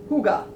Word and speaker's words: Hygge: It's pronounced Huga.